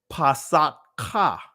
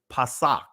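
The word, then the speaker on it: Pesach: ah at the end now if we didn't it would be Passat Ka right that's pronouncing every letter as a syllable but it's pasak all right so what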